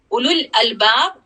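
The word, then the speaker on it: أولو الألباب: उलुल अलबाब, उसमें भी वो वाव भी हमेशा साइलेंट होता है.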